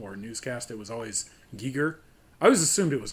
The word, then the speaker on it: Giger: Geiger of his time. yeah, kind of. That's H.R. Giger. No, I pronounced it Geiger for a long time. Is it Giger? I'm pretty sure it's Giger.